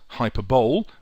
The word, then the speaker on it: hyperbole: H, hyperbole, which means over-exaggeration. Notice it's spelt hyperbole, but pronounced hyperbole.